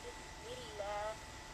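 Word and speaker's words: بسم الله: So we say Bismillah, and lam is soft.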